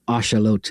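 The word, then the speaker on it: axolotl: But he most famously, and that's why the little Mexican salamander thing is called an axelottle, which is an ashalot is how you say that.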